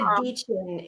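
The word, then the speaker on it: Dichen: They said Deachin in the behind the scenes thing.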